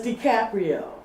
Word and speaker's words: DiCaprio: his name uh Leonardo decaprio Caprio playing in it and I I enjoyed it anyway see I told told y excuse me but it's DiCaprio how did I say